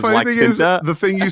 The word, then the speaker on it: La Quinta: I used to think that La Quinta Inn was Liquida. You know what I'm talking about? The Liquida Inn. I didn't know it was La Quinta.